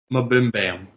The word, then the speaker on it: MBMBaM: Sorry, it's pronounced Mabimbam is how it's pronounced. But like they shorthand it to MBMBAM, and they say welcome to Mabimbam.